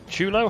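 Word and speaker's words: chullo: And the chulo hat. That's how it's pronounced.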